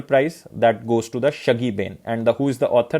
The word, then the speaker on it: Shuggie Bain: The exact pronunciation is the Shuggie Bain. Remember this.